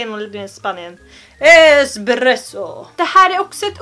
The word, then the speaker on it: espresso: Det vanligaste felet folk säger när de beställer kaffe är att de vill ha en espresso. Det finns ingenting som heter espresso. Det existerar inte. Men är du på ett kafé och vill ha någonting som börjar på E och är lite starkt, så beställer du en espresso. Inte X. Espresso.